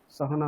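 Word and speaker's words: सहनौ: প্রথম থেকে বলো, সহনা ভবতু। ওম সহনা ভবতু সহনা ভুনক্তু সহনা ভুনক্তু নয়, সহনৌ ঔকার।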